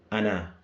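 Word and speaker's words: أنا: Ana. Alright. They said here, they put a little note here. Alif is silent. The reason why is because this alif here is for elongation purposes.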